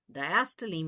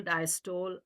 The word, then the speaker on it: diastole: Diastole means relaxation. Now, some students will say systole, diastole, but I think the correct pronunciation is systole, diastole.